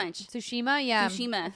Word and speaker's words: Tsushima: excited to see more ghosts of I can't pronounce this Jew shima-ya Tsushima yeah she meant like well actually you know